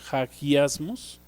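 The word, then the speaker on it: ἁγιασμός: principio viene del griego hagiasmos, bueno, así se pronuncia, con J, hagiasmos. ¿Qué significa la santificación? ¿Qué es el fruto al que debemos de llegar después de ser libertados del pecado? Santificación, hagiasmos, significa ser separados, ser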